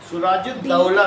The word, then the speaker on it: सिराजुद्दौला: सुराजुद्दौला करो, double T ए यू आएगा, AULH, सिराजुद्दौला। H भी आएगा सर, साइलेंट है।